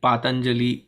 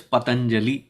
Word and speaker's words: Patanjali: as they feel like it is patanjali that is the rishi's name not pat anjali patanjali whatever else every